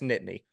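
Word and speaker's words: Nittany: can bear nney nit it's not you don't pronounce the t's as much as I had to be it's Nitty Nitty okay that that is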